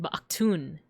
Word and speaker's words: Baktun: It's the change over to the new Baktun. Or sorry, I didn't pronounce it right. Baktun.